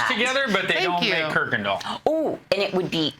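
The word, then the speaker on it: Kuykendall: we're gonna talk with her this is kirkendall oh did i nail it you did oh but you gotta spell it so everybody call it it's not i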